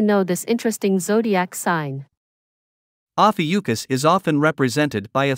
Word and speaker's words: Ophiuchus: Today, we're diving deep into the mysterious and often overlooked 13th zodiac sign, Ophiuchus. Yes, you heard that right, the 13th sign. Let's get started. Ophiuchus, pronounced as Ophiuchus, is a constellation that lies between Scorpio and Sagittarius.